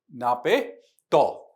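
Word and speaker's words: Naypyidaw: स्थल जो सुर्खियों में है म्यांमार की राजधानी नापे तो जिसकी प्रोनाउंसिएशन होता है।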